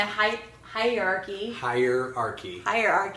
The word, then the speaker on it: hierarchy: So number 2 on the hierarchy. I've been saying it wrong all day. She's throwing a Y in there.